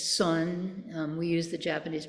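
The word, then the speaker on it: 선: of and in fact uh in Korean it's Sun um we use the Japanese pronunciation Zen and in Chinese it's Chan and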